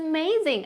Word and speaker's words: amazing: This tastes amazing. അല്ലെങ്കിൽ it's delicious. This tastes amazing. ഈ amazingൻ്റെ pronunciation എന്താണ്? Amazing. Amazing അല്ല. When A occurs in the beginning of a word, you have to pronounce it as a.